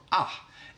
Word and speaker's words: A: And the first letter is A, and in Swedish that is pronounced A or ah.